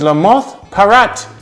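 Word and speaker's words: Lamothe Parrot: But in Jamaica, is La Moth Parrot. Now it's spelled L-A-M-O-T-H-E. How did she pronounce it? La Moth Parrot, right?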